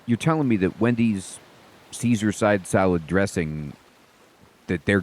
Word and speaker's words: Caesar: or whatever, this the Caesar actually calls himself Kaiser and the main character corrects him like saying, "You're pronouncing it wrong. It's Caesar.